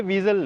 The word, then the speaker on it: Vezel: में इजाफा करता चलूं कि पाकिस्तान में बहुत सारे लोग इसको वीजल कहते हैं सो ये वीजल नहीं है हम इसको